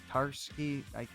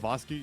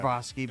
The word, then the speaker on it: Tartakovsky: Tarsky. Yeah. I can't even say his name. Sorry, I'm butchering it. Tartakovsky, yeah. Tartakovsky, but his Yeah.